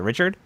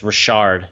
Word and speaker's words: Richard: rb2 Jaylen Richard Rashard how do you say his last name is it Richard it's Rashard Jaylen Rashard uh he he